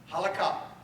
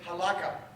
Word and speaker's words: halakhah: Halakhah. That is in Sephardic. Halakhah. You may hear some people say Halakhah. That is Ashkenazi. Same word, just accented on a different syllable.